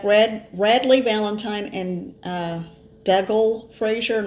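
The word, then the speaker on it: Dougal: Radley Valentine and uh dougle Frasier not Douglas it's actually d o u g l l Dole dougle Frasier sorry if I'm pronouncing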